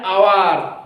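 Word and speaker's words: hour: কিন্তু এখানে যদি এইচ এর উচ্চারণ হ না হয়ে সেটা কনসোনেন্টের মতো হয়, মানে এইচ এর উচ্চারণ যদি ওয়ার মতো হয়, তাহলে সেক্ষেত্রে হবে কি? অ্যান। যেমন অ্যান আওয়ার, আওয়ার, এইচ ও ইউ আর, আওয়ার মানে কি?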